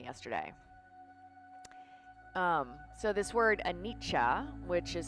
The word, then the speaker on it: anicca: for a long time and he spoke around anitcha which i've mentioned in this kind of sunday